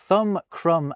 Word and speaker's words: crumb: They also thought, crumb, and limb should have silent B's at the end of them, like comb, lamb, and womb already did.